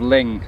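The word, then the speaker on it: Luing: The island of Ling. Slate and Ling. If you're looking for them on the map, they're not spelt like that. Ling is spelled L-U-I-N-G and Slate is spelled S-L-E-A-T maybe?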